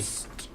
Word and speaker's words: Argynvost: Argynvost. I'm sure somebody's yelling at me for pronouncing that wrong somewhere. You have to say it with an accent. Argynvost. You have to roll your R.